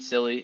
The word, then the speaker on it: Cilley: And yes, my last name is pronounced silly, so you can call me that.